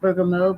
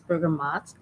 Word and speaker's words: bergamot: citrus family uh and it looks like it should say it's be pronounced burger mode but it is bergamot it's uh known for